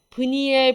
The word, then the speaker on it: 브니엘: 프로야구니엘 이렇게 말하면 돼요 이것은 브니엘 브뉴엘이라고 발음도 하기도 하고요 스펠링도 조금 다릅니다 이것이